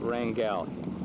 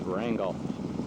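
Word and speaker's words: Wrangell: I've been told you don't call it Rangal. My friends and the restless said that's what yepies in San Francisco would call it. But up here in the north, we pronounce everything real simply. It's Wrangle.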